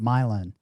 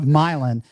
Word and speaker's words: Milan: I I'm going to call it Milin because that's how they pronounce it in Michigan. It's It's spelled like Milan. Okay. But Milin Lawrence Milin, I will touch base on my next visit.